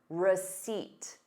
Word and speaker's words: receipt: So notice receipt. You have the word seat in it.